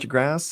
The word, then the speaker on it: de Grasse: I said that right, de Grasse? I should actually make Yes, you sure I did.